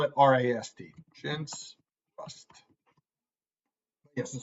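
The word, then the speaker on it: Rast: I'm saying it sounds like Rust, as you said. Let me write this down. We spell it R-A-S-T. Chintz, Rust.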